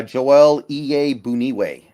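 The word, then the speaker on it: Joel Iyiegbuniwe: of a read on him myself yeah uh joelle ea boonieway and that is the correct pronunciation i actually looked in on that yeah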